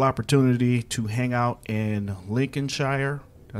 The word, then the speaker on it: Lincolnshire: getting the wonderful opportunity to hang out in Lincolnshire I say it right yes Lincolnshire um we're at the main station and we're